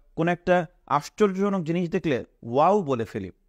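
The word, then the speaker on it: و: গোল হয়ে উঠেছে তো আমরা প্রথমে এটাকে বলবো ওয়াও এটাকে বলবো ওয়াও আমরা কিন্তু অনেক সময় আনন্দে খুশিতে কিংবা কোন একটা আশ্চর্যজনক জিনিস দেখলে ওয়াও বলে ফেলি হুম আমরা মনের অজান্তেই কিন্তু আরবি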